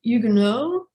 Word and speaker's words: Huguenot: An initial H is not pronounced in French. So it would be Huguenot, not Huguenots.